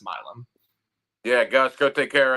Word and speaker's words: Milum: I've been saying Milum on the show, but it's actually pronounced Milum.